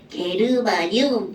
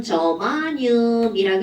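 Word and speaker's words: germanium: 그럼 옛날에 이제 콩글리시로는 뭐라고 했냐면 게르마늄 이렇게 불렀어요. 어디선가 아마 들어본 적 있을걸요? 그런데 얘네들은 영어로 이제 읽으면 저마늄이라고 읽어주죠.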